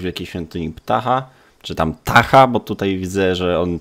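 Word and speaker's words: Ptah: Można go znaleźć w wielkiej świątyni ptacha, czy tam tacha, bo tutaj widzę, że on tego p nie wymawia. The p is silent.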